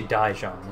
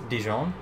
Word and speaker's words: Dijon: dijon dijon whatever um i always say daijong is it dijon i have a feeling it's dijon or am i just being